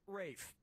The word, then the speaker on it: Ralph: one yep ray fein's first name is spelled like ralph but pronounced rafe and his brother joseph